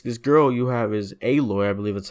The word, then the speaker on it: Aloy: you know this this girl you have is aloy I believe that's how you say it uh